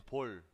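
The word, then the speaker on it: 볼: Ese cachete se dice pol. Pol. Pol. Pol. Así es como se escribe y así es como pronuncia.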